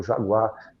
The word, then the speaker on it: jaguá: É o Jaguar na língua ancestral lá dos do dos dos tupinambá, dos tamo aí pronuncia, que é o jaguá que nós dois chamos de onça.